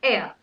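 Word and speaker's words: heir: not rain ring okay it's not hair it's air air to the throne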